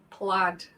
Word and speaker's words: plaid: a check yeah played you know it's pronounced plaid believe it or not silent idea all right okay there